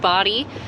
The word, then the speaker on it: Bodie: uh this is the body island lighthouse it is in fact pronounced body and it was built